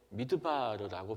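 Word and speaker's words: מדבר: 광야는 발음할 때 미드바르라고 발음합니다.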